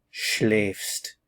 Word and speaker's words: schläfst: The pronunciation is different. Schläfst, du schläfst.